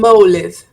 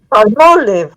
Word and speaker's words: Palmolive: Well, I'm not going to buy it, but For example, how would you pronounce this brand? Palm palm. Close. Close enough. Close enough. Palm. Palmolive. Palmolive.